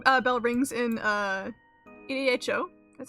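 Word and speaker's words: Edo: as an evening uh bell rings in uh EDHO.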